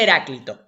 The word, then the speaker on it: Heráclito: Primero, se pronuncia Heráclito, ¿bien?